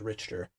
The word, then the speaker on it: Richter: I said Richter, they said it was incorrect, and it was Richter.